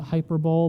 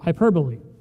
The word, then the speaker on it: hyperbole: The emphasis is right in the middle. Not hyperbol, but it looks like that."